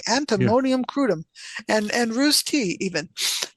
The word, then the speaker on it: antimonium crudum: remedies which include antonium antimonyium crudum let me say it correctly antimonium crudum and and roose tea